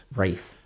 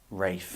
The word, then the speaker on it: Ralph: a bit stupid yes do you think the L is silent of course it is Ralph he and again